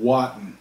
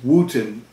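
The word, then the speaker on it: Wotton: it was spelled w-o-t-t-o-n i would look at it and call it watan so i have a feeling that it was pronounced wooten in england even though it was spelled like watt and w-o-t-t-o-n because i know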